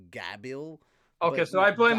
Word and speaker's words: Gabiru: It's called Gabiru, and technically gonna go with because of how they say L's in Japanese, technically it's Gabil. Okay, but so I blame the Gabiru.